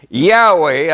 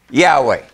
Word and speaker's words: Yahweh: and sisters in greek translations also indicate that yahweh a w y a w h a y h w h i'm sorry should be pronounced yahweh yahweh now also let me show you something